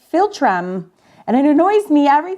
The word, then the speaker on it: philtrum: She was like, you say fulcrum, it's philtrum.